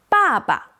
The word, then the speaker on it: 爸爸: Next, 爸爸.